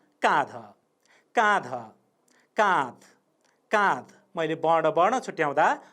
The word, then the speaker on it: काँध: छुट्टै उच्चारण गर्दा ध सग्लो उच्चारण भयो। काँध भन्दा त्यहाँ आधा उच्चारण जस्तो लाग्छ अथवा हलन्त उच्चारण भएको हुन्छ।